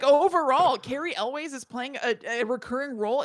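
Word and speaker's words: Cary Elwes: And then also horror friend Carrie Elways. How do you say it? I can never say it. Carrie Elways is in it?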